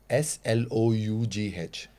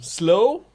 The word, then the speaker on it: Slough: Just tell me how people get pronunciation. S L O U G H Oh, slow?